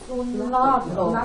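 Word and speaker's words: συνάγω: How do you pronounce this one? Sunago.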